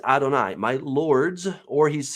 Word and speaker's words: Adonai: your servant this right here is the word Adonai as it actually sounds that's the way it's spelled Adonai now Adonai is actually a plural